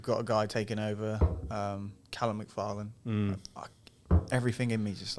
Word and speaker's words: McFarlane: a guy taking over, Callum McFarlane. Everything in me just like, not Seth. It's not Seth MacFarlane. It's Callum McFarlane. Say it right.